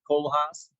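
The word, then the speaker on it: Koolhaas: you're interested in architecture the Dutch would know he's pronounced Cole house he is uh probably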